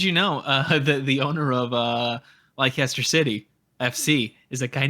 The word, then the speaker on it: Leicester: I'm not calling it Leicester City. No. I'm not calling it that. It's Leicester City. Yeah. Leicester. Yeah. Yeah, I'm already, as if it wasn't evident before, I don't pronounce things well.